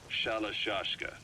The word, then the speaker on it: Shalashaska: Someone must have known about that, because somewhere along the line, Shashka got stuck on the end of Shalashaska. The guerrillas were using the name amongst themselves. By the time I got to hearing about it, pronunciation had wound up as Shalashaska.